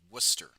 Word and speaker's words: Worcester: It's called Worcester. Okay. Just like reading is called reading even though it's spelled re a dn or sorry r e